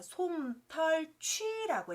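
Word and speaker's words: 毳: 그래서 솜털취라고 읽습니다.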